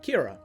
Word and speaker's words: Kira: composed by the kanji for her surname kira obviously sharing an extremely similar pronunciation of the word killer but can also roughly